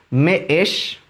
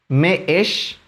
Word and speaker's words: me'ex: Eso significa que hay que dar una pequeña pausa al momento de pronunciarlo. En este caso quedaría de la siguiente forma: y la palabra que lo ejemplifica es meesh, meesh, meesh, que significa barba.